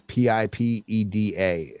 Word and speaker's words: PIPEDA: PIPEDA is how it's spelled. It sounds like you're trying to say PEEP a letter day, which stands for Personal Information Protection and Electronic Documents Act.